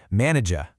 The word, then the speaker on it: manager: In the UK pronunciation, that final R sound often gets softened or it might even disappear entirely. It sounds more like manager. But in the US version, that final R is much stronger. Right? You really hear it. Manager. It's a small thing, but it's a dead giveaway of where someone's from.